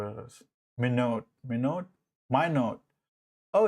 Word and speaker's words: Minot: Minot, my note.